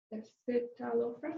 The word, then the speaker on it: escitalopram: Escitalopram. Escitalopram. So it's with an I. E. S. It's like saying S-citalopram. And that's really means it's a derivative of citalopram.